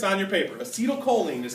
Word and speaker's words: acetylcholine: neurotransmitter it's written here it's on your paper acetylcholine is how you say it acetylcholine I'll abbreviate